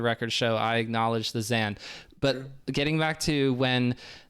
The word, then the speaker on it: Zain: say for the record i'm acknowledging that zan is also how you pronounce his name for real for reals but zane on the on the radio melee podcast said i'm good with either or so i'm probably going to stick with zane just for my own